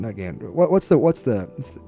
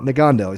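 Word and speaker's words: Naganadel: No, it's not Nagandro. It's Nagando. See, all right, I always say it wrong.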